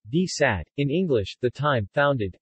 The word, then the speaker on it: די צײַט: From the 1910s to the 1950s, London had a daily Yiddish newspaper called Die Zeit, D-T-S-A-Y-T, Yiddish pronunciation, D-Sat, in English, The Time, founded, and edited from